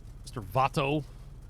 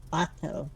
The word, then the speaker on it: vato: It's Bato, by the way. Like pronounce it with a B. Vato? Yeah, pronounce it with like a B. V in Spanish is like a B.